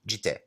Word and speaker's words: jitte: consonant, the doubling of the T at the end indicates that there is a bit of a break. Jitte. If the romanization of the Japanese was J-I-T-E, jitte. But jitte is a more accurate pronunciation.